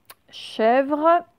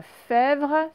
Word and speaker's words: chèvre: Chèvre, ce n'est pas fèvre, c'est chèvre.